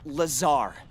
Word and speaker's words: Lazar: I thought she called him Lazar. Di calls him laser blazer. I like the ring of laser. Hey, laser blazer. It's Lazar actually. accent on the ZAR.